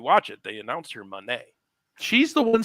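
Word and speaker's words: Moné: see or whatever Mercedes is it Monet or Monet? Monet. I thought she was pronouncing it money. Monet. Mone. But she's pronouncing it Monet. Yeah, like Tommy said. I think that's right. It is Monet. Which, whatever. It again, no, you're probably saying it right, but she's saying it as Monet.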